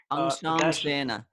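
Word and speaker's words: अंशांशेन: I mean how this dot will pronounce and the s Angshamshena. Angshamshena.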